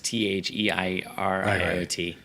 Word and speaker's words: Theriot: The two vineyards that are touching it are also quite famous, Theriot and Summa. Theriot. Yeah, I think it's Theieriot. But it's spelled different than it sounds.